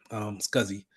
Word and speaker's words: SCSI: This is typically what they're going to use as a connector, SCSI. So small computer system interface, but it's pronounced that.